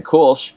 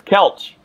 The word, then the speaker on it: Koelsch: pronouncing your name wrong i've been saying cool and it's couch so we were cheered